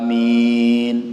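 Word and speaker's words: آمين: Shahih yang paling absah yang paling fasih itu a-nya panjang minimnya panjang eh Amin itu yang paling masih jangan Amin ya kayak anak-anak bercanda gitu Amin habis itu eh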